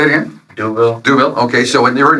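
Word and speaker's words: D'Youville: about your new school, and I'm afraid to mispronounce it. So tell me how we say the name of your university. Uh Duville University. Say it again. Duville.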